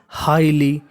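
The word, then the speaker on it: highly: क्या है एल वाई अगर आपको इंग्लिश में कहीं पर एल वाई लिखा हो तो उसे पढ़ते हैं ली और यह जो हमारा जीएच है वह हमारा साइलेंट रहता है तो मीनिंग क्या बन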